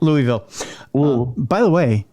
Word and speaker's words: Louisville: No, Louisville.